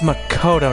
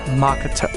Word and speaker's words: Makoto: Oh, it's Makoto, not Makato.